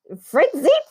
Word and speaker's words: Freizeit: video for German band Freizeit 98. How do you say it? Yes, it's Freizeit.